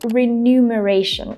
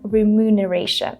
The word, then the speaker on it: remuneration: I used to say remuneration instead of remuneration. And this is a very common mistake in English. So basically, a lot of people flip these two letters. They flip the M with the N, and instead of saying remuneration, people say remuneration. Maybe because of the word numbers. So that's why in our heads we feel like numbers, so this word should be remuneration.